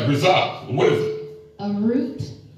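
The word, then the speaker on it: ῥίζα: The original word is pronounced hritza. Right, hritza.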